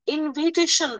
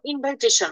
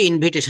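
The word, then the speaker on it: invitation: ইনভাইটেশন মনে হয় উচ্চারণটা ইনভিটেশন এরকম হবে না, আগে তো বলতাম ইনভাইটেশন। নো, কিন্তু ইনভিটেশন, হ্যাঁ আপনি যেটা বলেছেন এক্সাক্ট রাইট।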